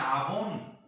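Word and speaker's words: עון: En español se pronuncia abón, como esa mercancía que se vende, hermano, de pinturas para las damas, hermano.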